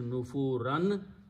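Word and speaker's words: نُفُورًا: Word it becomes nufurun changes to nufuran. And when you stop, you pronounce nufura.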